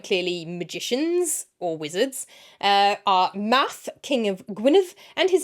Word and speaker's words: Math: Math, the king, I think I pronounced that right. It looks like math, which sounds like how Americans say mathematics. Math. I think it's math.